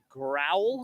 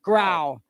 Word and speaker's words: Grau: Skier in the water is Mitch Grau. Growl? Grau. No L. Grau. Oh, Not Grau. Grew. Yeah, Grau.